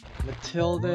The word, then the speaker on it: Mathilda: is it Mathilda or Matilda so the each is silent okay Matilda it is then yeah go